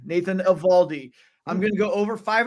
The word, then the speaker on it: Eovaldi: I mean come on e o v a l d i but the O is silent don't say eovaldi don't be one of those it's evaldi Nathan evaldi I'm gonna go over